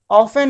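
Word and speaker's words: often: हमारा B silent है, ऑफन में हमारा टी साइलेंट है, नो में हमारा के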